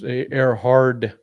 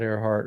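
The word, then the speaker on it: Ehrhard: Oh, that's Airhard, not Airheart. Okay.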